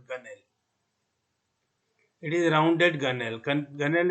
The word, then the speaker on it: gunwale: When deck plating joins shell plating, this part is called gunnel, spelled gunwale, Gunwle, but normally it is pronounced as gunnel.